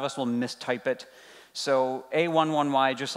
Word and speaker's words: A11Y: If you are on Twitter very often, you might see the A11Y hashtag come through, or A11Y, or some people pronounce it Ally. Jerks.